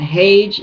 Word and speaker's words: Hage: wayne is spelled w-a-y-n-e and hage is h-a-g-e g is in goat fusion eric okay uh